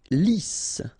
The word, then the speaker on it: lisse: Lisse. Double S here, so it's really a strong S.